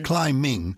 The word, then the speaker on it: climbing: we all knew this we used to pronounce the b in those days climbing you would think it's